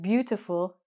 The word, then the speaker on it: beautiful: So in English, the word beautiful is only 3 syllables. Beautiful.